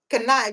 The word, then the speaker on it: knife: You see a word, they will tell you no, you don't need to pronounce. Okay, for example, Knife, right?